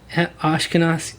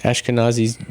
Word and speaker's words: Ashkenazi: Ashkenazi. How do you say that? Ashkenazi Jew.